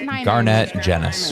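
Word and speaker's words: Garnett Genuis: I've always I've been mispronouncing his last name forever. Nice to know. It's Garnett Jennis.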